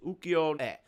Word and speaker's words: Ukiyo-e: It's pronounced in Japanese Ukiyo-e.